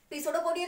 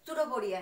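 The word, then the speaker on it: pseudopodia: इसकी spelling P से शुरू होती है, पर हम पी को साइलेंट रखेंगे, पिसोडोपोडिया नहीं है, ये सुडोपोडिया है, ठीक है।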